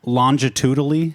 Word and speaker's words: longitudinally: Longitudinally? Yes, I think that sounds good. Let's Like- go longitudinally. Longitudinally. Yeah, I like doing a hard G.